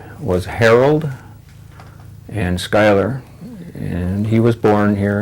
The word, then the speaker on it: Schuyler: I have a middle initial K for Keltner, and I pronounce my last name Schuyler, Schuyler.